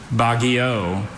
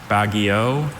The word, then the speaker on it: Baguio: Bagio or Bagio?